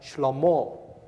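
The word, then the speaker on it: שלמה: In Hebrew, Solomon's name is pronounced Shlomo.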